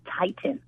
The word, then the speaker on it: titin: It's something called titin. Titin, which is spelled Titin, was named after Titan, Titan, because it's the largest protein in the body.